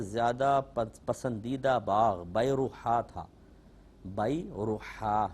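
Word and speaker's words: بیرحاء: پسندیدہ باغ بیروحا تھا۔ بیروحا، یہ اس کا تلفظ ہے، با یا را حا الف اور آخر میں حمزہ، بیروحا۔ تو یہ ایک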